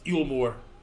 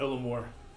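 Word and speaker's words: Eulmore: the way of yulore I've been saying it wrong it's yulore not elore oh you Dim deluded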